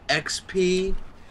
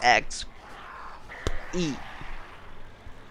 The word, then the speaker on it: XP: gonna give us exp it's pronounced xp you pleeb well i'm gonna keep saying ex e it doesn't matter experience